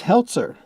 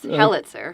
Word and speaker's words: Helitzer: Joining us today is Heltzer. Did I pronounce that right? It was pretty close. Helitzer. Helitzer. Okay.